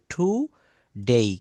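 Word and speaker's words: today: ডেই যেমন টুডে এই টুডে হবে না এটা হবে টু ডেই কেন এখানে ঠয় রস লিখলাম কারণ এই টি কে ঠ বলতে হয় তার প্রমাণ এইখানে দেখেন এই যে এখানে এসটি এই টি এর উচ্চারণ কি বলেছি ঠয় দীর্ঘকারে দিয় দীর্ঘিকার ঠি তো এখানেও বলতে হবে আমরা বলি টুডে নট টুডে এটা সঠিক সঠিক উচ্চারণ হবে টু ডেই টু ডেই আমরা বলি প্লিজ সে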